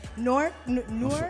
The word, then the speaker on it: Newark: I don't know if I'm gonna say it right because I'm not, but Newark. I'm from Newark. It's like you saying Fork, Newark?